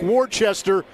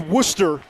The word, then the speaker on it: Worcester: small school in a town that looks like Worchester but is pronounced Worcester in Massachusetts Luke knows all about that having